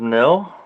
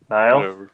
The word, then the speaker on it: Nile: Last one I went to was Dying Fetus, and they had Immolation, Rivers of Nil, I think is how you say it. Nile. Yeah. Nile. It's spelt weird, so it kind of makes me